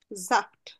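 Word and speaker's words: Saft: জাপ্ট মানে হলো জুস জাফট তাহলে এস আ এস এর পরে ভাওয়েল থাকলে উচ্চারণ কি হয়ে যাবে জ এর মত জয় জি তাহলে জাফ জাফট জাফট সে ড্রিঙ্ক জাফট এখন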